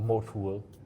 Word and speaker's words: mo2l: It's uh Mo or Motul which I which is like what I pronounce it, right? So it's M O. So Mike Oscar to Lima. Yes. Like Moal, like the motor oil brand.